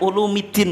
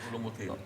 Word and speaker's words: Ulumuddin: Ghazali dalam Ihya ulumiddin bacanya ulumiddin Pak tapi Ulumuddin yang muda ya Ulumuddin ada mudhaof ilai dimarfukkan itu ya orang Indonesia kalau nyebut Ihya Ulu muddin itu salah itu tapi karena kalau